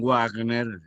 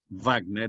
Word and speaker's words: Wagner: ustedes acostumbrados a pronunciar la w en inglés y también pues no digan warner no va tener porqué wagner era alemán no inglés y s un movimiento